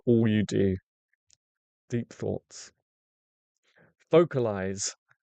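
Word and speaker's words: vocalise: Vocalize has ease at the end. Vocalize? No, you don't say it like vocalize, do you?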